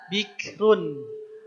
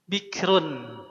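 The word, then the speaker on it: بِكْرٌ: Runnya kita sukunkan ya bikrun. Bikrun ya. Runnya kita sukunkan tapi sebelumnya juga sukun juga nih ya. Kumaha macan sebelumnya huruf berharakat kasrah maka sira yang ini terdengarnya harus tipis.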